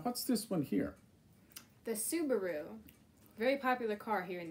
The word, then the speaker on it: Subaru: in japanese right so it's not subaru it's subaru and um this one here